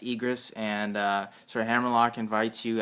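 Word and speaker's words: Aegrus: I think I'm pronouncing that right. Yeah, it's Egris, and Sir Hammerlock invites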